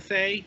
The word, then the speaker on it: Fe: in I think the people of the Fay even though it's spelled Fe yeah that's Fay it's fairy yeah I